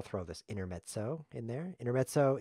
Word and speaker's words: intermezzo: Intermezzo is Italian. It's pronounced like this, intermezzo.